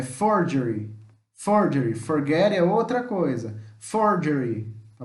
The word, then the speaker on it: Ford: Ford não é fougére não fala forghieri é Ford Ford Forget outra coisa Ford Tá bom mor dele